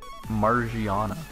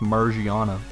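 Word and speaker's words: Magearna: for how I pronounced Margiana. When this game came out, I was not stupid. I saw it based on a gear, Magirna, like that's pretty clear.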